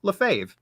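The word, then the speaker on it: Lefebvre: wrote a song to teach you how to pronounce it ever since I've remembered it's lefave fa Mark Leslie lefave wide for the win strategies to sell globally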